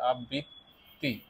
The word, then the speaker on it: আবৃত্তি: উচ্চারণ করতে গিয়ে এখানে ত টা দুইবার উচ্চারণ করবে আবৃত্তি তাহলে যুক্তবর্ণ এই কারণে